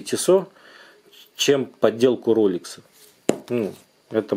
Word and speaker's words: Tissot: По поводу подделок Tissot, фирмы правильно вообще читается как Tissot.